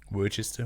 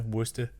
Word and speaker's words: Worcester: like garlic barbecue sauce which is just Worchester Worcester Worcester sauce yeah great ingredient however this